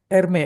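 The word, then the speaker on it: Hermès: Erme. Ermee. Erme yang versi mahal loh. Tu segini ya? Hermes. Iya. Iya. He kalau bacanya katanya herme itu.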